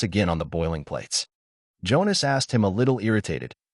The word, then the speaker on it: Jonas: In German you pronounce the J like in Spanish the LL.